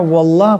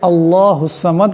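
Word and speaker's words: اللَّهُ الصَّمَدُ: আল্লাহুস সামাদ আল্লাহুস সামাদ এখানে আল্লাহ পড়তে হবে পড়লে হবে না কিছু সংখ্যক মানুষ এখানে ওয়াল্লাহ পড়ে এবং তারা মনে করে এটাই শুদ্ধ কিন্তু আসলে তেমন নয় এখানে কোন ওয়াও নাই এখানে আছে হামজা তাই এটাকে আল্লাহুস সামাদ পড়তে হবে ওয়াল্লাহ পড়লে শুদ্ধ হবে না সামাদ এখানে সওয়াদ আছে আবার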